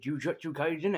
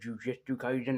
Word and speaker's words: Jujutsu Kaisen: So, is Jujutsu Kaisen actually wor actually actually worth checking out? By the way, am I the only guy that accidentally pronounces this sometimes as Juju Kaisen as an accident?